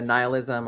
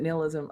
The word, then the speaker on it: nihilism: I mean, I do think that that's the other part of the nihilism, or is it nihilism? I say nihilism. I say nihilism, but that's because that's how they say it in Lebowski.